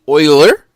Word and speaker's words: Euler: Here with us today is Euler. Is that how you pronounce it?